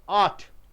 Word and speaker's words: ought: is something like that model burp only one syllable ought where do you thought